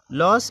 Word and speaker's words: LAOS: लॉस मतलब LAOS लॉस मतलब नाम।